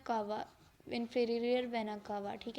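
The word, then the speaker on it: cava: अच्छा, वर्ड जो है ना असल में इसकी प्रोनाउंसिएशन है कावा, इन्फीरियर वेना कावा, ठीक है।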